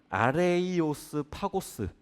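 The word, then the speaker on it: Ἄρειος Πάγος: 법원이라고 보기는 조금 그래요 원래 발음은 아레이오스 파고스이 원래 헬라어로 아레이오스 파고스 우리나라말로 차음을 해서 발음을 하다 보니까 아레오바고 됐는데 아레이오스 파고스 하는 이곳은요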